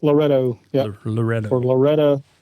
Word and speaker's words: Loretto: Loretto. Yeah. Loretto. Or Laredo, however you want to pronounce it.